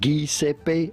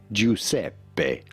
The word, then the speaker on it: Giuseppe: Well, the typical Italian pronoun, they'll give a name which is before the U, so the G is pronounced like a J, not like G. It's not Giuseppe, of course, it's Giuseppe.